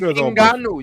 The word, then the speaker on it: Ngannou: Are you fan Francis Ngannou?